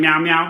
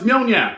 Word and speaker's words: Mjolnir: He's always going meow meow. I was like, no, it's Mjolnir.